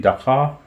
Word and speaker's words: Dakar: Yeah, and at the moment in Dakar, Senegal. So have I pronounced it very, correctly?